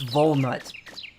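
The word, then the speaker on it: Volnutt: Is it pronounced like walnut or walnut instead with a V instead? It's volnut.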